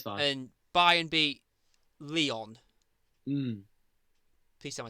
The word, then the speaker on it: Lyon: And Bayern beat Lyon. Mm. Please tell me I said that right. Yeah, Leon, you're right, yeah.